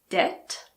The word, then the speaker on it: debt: There are also a few words in which the B is silent before the letter T. These words are debt, doubt, and subtle.